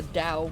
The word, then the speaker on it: Tao: I think that's actually pronounced the Tao, even though it's a T.